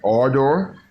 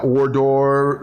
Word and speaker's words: Ardor: ardor our door so think about saying our door you know our door okay guys that's how you pronounce it now or door like you've got all doors or something like that you're about to eat the bike no it's our door like a a-r-e door or door okay guys um i